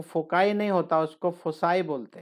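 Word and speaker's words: foci: लेकिन बहुत से लोग फोकी फोसी पता नहीं क्या क्या बोलते हैं, लेकिन मैं भी ऐसे डाउट में रहता था। फिर एक दिन डिक्शनरी में देखा मैंने इसको, तो उसके अंदर प्रोनाउंसिएशन भी लिखा रहता है ना, अगर आप एक्सपर्ट एडवांस पढ़ोगे तो उसके अंदर इसको लिखा हो फोसाई।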